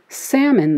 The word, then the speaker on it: salmon: We ultimately decided not to pronounce it in salmon, though, after we added the L to saumon.